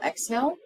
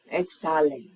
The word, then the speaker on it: exhale: If you need to tell them inhale, exhale, the H in the middle of the word is silent. Inhale, exhale.